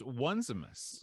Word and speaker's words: Onesimus: I would call it just Onesimus. Onesimus. There you go. I've heard several different pronunciations.